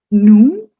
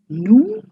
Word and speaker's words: nous: Nous, last s is silent. Nous is we.